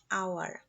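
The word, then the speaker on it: hour: অ্যান আওয়ার, এইচ এর উচ্চারণ অ এর মতো, যার কারণে এখানে অ্যান বসেছে।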